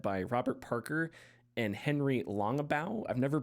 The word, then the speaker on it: Longabaugh: a game led by Robert Parker and Henry Longabaugh. I've never pronounced his name. I've only read it, so I think it's Longabaugh or Longabaugh, maybe.